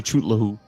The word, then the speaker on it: Cthulhu: Yeah, it's Cthulhu. No. A lot of people say Chootlahu.